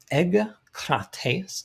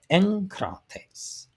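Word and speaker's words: ἐγκρατής: When a gamma is followed by another velar, the first gamma is pronounced like an N, an N sound to us, but a nu. So you have not egkrates, not that. We have enkrates.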